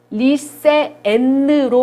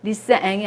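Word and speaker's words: lycéenne: 리세엔으로 발음을 합니다. 이때는 리세앵이 아니라 이거는 리세엔느 이렇게 한글로 쓰면은 이렇게 발음을 하셔야 되는 거예요.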